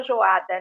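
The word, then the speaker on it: Joiada: Jeo, eh, Jeoada, né, fala Joada, né, mas se escreve Jeoada, escolheu ele, o profeta,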